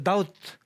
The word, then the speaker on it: doubt: 이 B는 묵음이라고 그랬죠? 그래서 doubt 하면 의심하다.